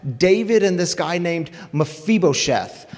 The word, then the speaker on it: Mephibosheth: guy named mafibo sheth i want you to say his name with me because it's kind of a hard one mafibosheth yes see that that uh hiv ph it's like like it is in phone it makes the f